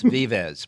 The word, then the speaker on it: Vives: That's how you pronounce her name, Vives. Sophia Vives, or Vives, or whatever you want. At least your track announcer there at Aqueduct says Vives, so I'm going with him.